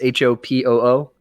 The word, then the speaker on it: Hopoo: like one other game ho poo it's it sounds like it's spelled yeah that's what i